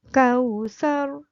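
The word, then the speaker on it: الكوثر: Nah, contoh itu menunjukkan bahwa ro-nya dibaca tebal, yaitu kausar. Ro-nya tebal karena didahului oleh harokat fathah.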